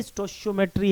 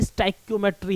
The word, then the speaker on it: stoichiometry: अब right now ये जो नंबर लिखा हुआ है हर एटम मॉलिक्यूल्स के आगे, यही स्टोशियोमेट्री है, यही स्टाइक्योमेट्री है। आप इसे स्टोशियोमेट्री बोलिए या स्टाइक्योमेट्री बोलिए, बोथ आर करेक्ट प्रोनाउंसिएशन।